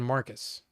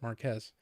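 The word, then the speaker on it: Marques: way really well yeah the computer was saying Marcus but that was a man that said it looks like Mar like it would be Marcus but he pronounces it Marquez and I'm sure you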